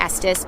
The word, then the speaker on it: Estes: There is so much to do with kids here in Estes Park.